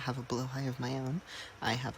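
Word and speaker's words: Blåhaj: I am going to pronounce it Blowhigh for this video because I've been told that that's the correct pronunciation. However, I am not Swedish and cannot verify.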